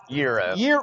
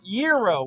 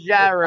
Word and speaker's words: gyro: This word is pronounced Euro. Euro, like with a Y, not with a G, right? Correct. It's Coach not says gyro.